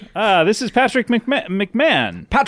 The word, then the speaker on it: McMahon: And uh but here we would say McMahon. What what did you would say here in in America we would say Patrick McMahon. So you'd pronounce my name wrong because it's Patrick McMahon.